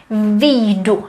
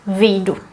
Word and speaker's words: vyjdu: Except when you read it, you would pronounce it as vyjdu. And there you would read the J actually, vyjdu.